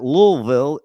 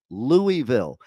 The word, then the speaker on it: Louisville: here in Kentucky who don't even know how to pronounce louville right they pronounce it louville it's Louisville was it King L